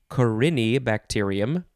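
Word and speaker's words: Corynebacterium: so this word is corony bacterium corony bacterium uh it's all one word coronee is c-o-r-y-n-e just making sure i am pronouncing it correctly uh you could also say carini bacterium it is a noun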